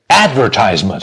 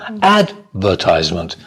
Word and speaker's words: advertisement: Whereas, I like but American English, advertisement. So the stress on the first syllable, advertisement. But British English, advertisement.